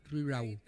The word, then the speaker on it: riurau: Els provençals pronuncien la paraula rural en una i la L la fan U. Si ells diuen un lloc rural, ells diuen que és riurau.